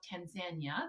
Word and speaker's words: Tanzania: landed in tanzania and they call it tanzania that's how the locals pronounce it and we took um